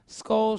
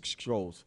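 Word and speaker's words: Scholez: Skoll Street, S.STREET. That's right, yeah. S.STREET, Skoll Street. And also. A long time I used to pronounce it wrong. I used to say Skrolls.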